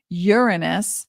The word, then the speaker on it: Uranus: and then July 7th through May of 2033 Uranus that's the correct pronunciation uh is leaving Taurus as a Tori